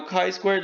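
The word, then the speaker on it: χ²: by the expected now chi squared looks kind of like a fancy x symbol here it is pronounced chi squared we have two conditions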